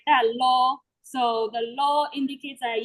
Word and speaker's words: lo: So the one I'm going to use is LOR, which is pronounced lo.